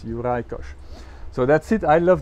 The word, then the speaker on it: Juraj Kojs: complicated tough to pronounce it's from Hungarian descent so hence uricosh so that's it I